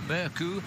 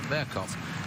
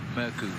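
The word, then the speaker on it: Mørkøv: now on as Michael murku because the Danish televisions informed us they don't pronounce the V on his name which is mercov so from now on it's merku well in fact their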